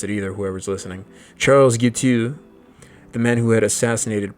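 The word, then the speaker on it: Guiteau: Like Charles Guutu, Gui T au. I bet you couldn't pronounce it either, whoever's listening. Charles Gutu, the man who had assassinated President Garfield in Washington for no clear reason.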